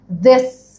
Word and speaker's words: this: This. مس انت طلعتي لسانك لما جيتي نطقتي التي اتش. برافو عليكم. ده اللي انا عايزاكم تاخدوا بالكم منه. علشان انطق التي اتش بطريقه صحيحه لازم اطلع لساني.